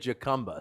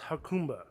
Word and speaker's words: Jacumba: this place here what's the name so oh hakamba see we were wrong we said jacumba so yeah some folks would pronounce it jacumba some just call it huck combo from what i've heard it's actually pronounced hakumba you are the bartender you're what else do